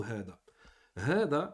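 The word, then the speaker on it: هذا: tuntaqu hada wa tuktabu hada. Hada, ici, en fait, on le prononce comme ceci. Avec un med, avec une prolongation après le ha. Hada, hada. Mais elle ne s'écrit pas.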